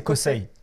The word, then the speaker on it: Kosei: On dit comment son nom du coup, Kosei ou Kosei? Je crois que c'est Kosei. Kosei, okay. Je crois qu'on Kosei. Le prononce en commun S.